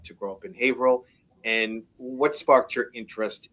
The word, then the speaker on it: Haverhill: And so we moved about 45 minutes to an hour north of Cambridge in Haverhill, a city that some of my family members would mispronounce as Haverhill at the time.